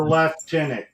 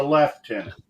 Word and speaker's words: lieutenant: put R in the word it it's the left tenant not right it's a left tenant so obviously yeah the f is because he's